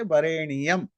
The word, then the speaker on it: वरेण्यम: तत्सवितुर, ध्यान से सुनिए, तत्सवितुर वरेण्यम, ण्यम जो है ना, NYA, इसके जगह NIYA, वरेणी यम। तो कुछ लोग बोलते हैं वरेणीयम, दो ज्ञान नहीं है या उच्चारण अशुद्ध है इसलिए बोल देते हैं, पर एक्चुअली रूल के हिसाब से वो भी सही है, क्योंकि उनको 24 मात्रा